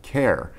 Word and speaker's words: Cahir: know obviously know that it's pronounced care I remember all the